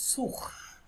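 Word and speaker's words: sous: সুখ এটা হচ্ছে সু লাস্টের এস সাইলেন্ট সু এই সু মানে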